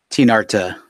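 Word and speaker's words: Tinarta: your antagonists I'll say her name is teen Arta like TI n AR ta and I imagine she's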